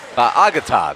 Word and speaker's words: Fa'agata: Messed that up. Fa'agata, there you go. That's the right way to say it.